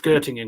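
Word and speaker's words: Göttingen: It's Gottingen because of the umlaut on the O.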